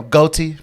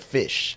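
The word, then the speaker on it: Ghoti: actual rap track and don't mispronounce it like our friend anthony fentano did in his video so it looks like you know goaty but no it's just a a different phonetic spelling of fish yes it's very interesting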